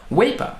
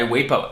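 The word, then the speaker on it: WAEPA: want to look at other options for example weipa is a great option now i'm not compensated by waypo at all zero percent okay and that is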